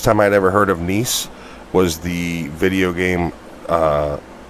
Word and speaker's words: Nice: uh what's your name niece nice niece he's pronounced nice that's where that's where